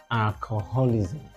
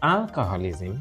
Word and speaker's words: alcoholism: only cure for alcoholism not alcoholism but alcoholism stressed on the first syllable is abstinence from alcohol